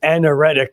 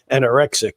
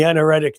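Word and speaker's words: anaretic: So pronounce yes the uh the word is anoretic or I want always want to say anorexic degree but it's the anoretic degree actually so is your Pluto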